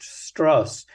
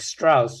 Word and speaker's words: Strauss: of Ls stros um he makes a point of having his name pronounced stuss so that it doesn't sound like Strauss and people think he was Jewish uh I mean lots